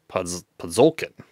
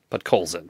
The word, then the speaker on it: Podkolzin: We've got a French variant young gun of Vasily Podzolkin. Podkolzin? Podkolzin, that's how you say it.